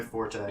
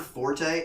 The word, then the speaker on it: forte: not my not my forte you still love book come on did you know the word Forte fo RT e is actually pronounced fort really yeah what do